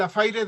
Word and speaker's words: affaire: más, investiguen, es el affaire de los venenos, affaire de poisons, usted me lo sabrá mencionar mejor. Y fue que encontraron... Escribe affaire, se pronuncia affair, negocio.